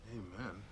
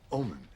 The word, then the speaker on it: omen: Amen. No, omen. It's pronounced omen.